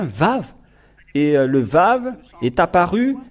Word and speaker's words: vav: c'est bien ça donc c'est pas du tout waouh mais on le prononce bien vave et le vave est